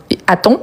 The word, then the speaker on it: attend: Donc, attend, fermé, on ne prononce pas le D.